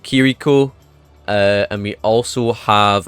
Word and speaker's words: Kiriko: I did say it wrong the first time, but it's called Kiriko.